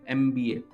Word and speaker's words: MBA: शुरू हो रहा है, लेकिन जब हम इसको प्रोनाउंस करेंगे तो हमें साउंड क्या आएगी, एम की आएगी, एम की आएगी, की आएगी, MBA।